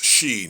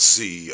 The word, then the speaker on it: Xi: It's she, not Z.